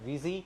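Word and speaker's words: Vuzy: है, एक नया ब्रांड, वूज़ी। बहुत से लोग इसे 'वी-जेड-वाई' बोल रहे हैं, लेकिन वास्तव में इसका उच्चारण 'वी-यू-जेड-वाई' है, यह उच्चारण करने में आसान है।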